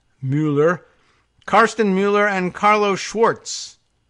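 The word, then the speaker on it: Müller: Karsten Muller, or probably Mueller, we have that pronunciation problem here in the United States, but this is a M-U with the umlaut L-L-E-R, Mueller.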